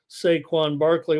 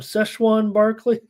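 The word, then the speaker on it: Saquon Barkley: for the octopus and I think it is saquan Barkley What do the I call him there there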